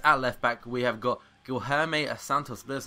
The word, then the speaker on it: Guilherme Santos: Then to finish off the defence, at left-back, we have got Guilherme Santos.